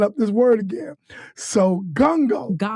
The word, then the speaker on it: Ngongo: You My husband's last name, my my last name, my married last name is pronounced Gango. Gungo. So the N the first N silence.